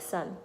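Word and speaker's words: Sơn: it does matter because the way you raise and you lower your voice it make a difference it will change the meaning of the name if you don't do it correctly so when you think of so I would imagine you can pronounce it like son like think of him like our son you can't live without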